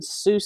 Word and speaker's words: Seuss: an interview he said it wasn't pronounced Seuss it was like so but I don't know